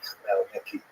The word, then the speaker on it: Khmelnytsky: And it's sometimes spelled with Roman characters with the Polish spelling, making it look something like Khmelnytsky. It's actually pronounced Khmelnytsky with a guttural at the beginning.